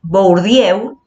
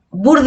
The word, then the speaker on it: Bourdieu: bernstein y pierre bourdieu no es por diego sino es burda y pierre bourdieu y